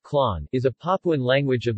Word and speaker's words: Klon: Klon, or Klon, pronounced Klon, is a Papuan language of the western tip of Alor Island in the Alor Archipelago of East Nusa Tenggara, Indonesia.